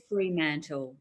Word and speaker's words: Fremantle: So it's called Fremantle.